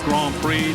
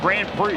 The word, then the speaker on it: Grand Prix: phenomenal as you saying Grand Prix gr gr gr the D there is silent I notic touch back